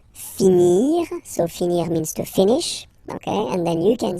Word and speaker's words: finis: Remember, final S is not pronounced. Je finis. Okay? Tu finis. So es as well, like we had for je. So same way to pronounce it as well. You don't pronounce the final S.